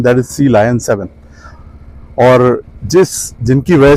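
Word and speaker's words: Sea Lion 7: देख पा रहे हैं, सी लायन 7, इसको कुछ लोग सिलियन भी कहते हैं, कुछ लोग सी लॉयन भी कहते हैं, बट जो correct pronunciation that is सी लायन 7।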